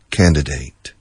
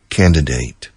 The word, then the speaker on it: candidate: Who is the other candidate? Candidate. Other pronunciation, candidate. Both pronunciations are common in English. The candidate, the candidate. You decide which one you like.